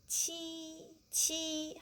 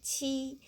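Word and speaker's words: 七: And next one is qi. How to pronounce this? Qi. Qi, we also have the same pronunciation.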